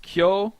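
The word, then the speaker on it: 教: same kyo three times you are going to learn that this is pronounced kyo when it's with another kanji and you're going to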